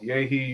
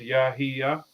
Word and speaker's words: Yahya: I hear it all, yahi, yaha. So, I break it up into three syllables, yahiya. So that's kind of like the easiest way to pronounce it if you don't have the native tongue.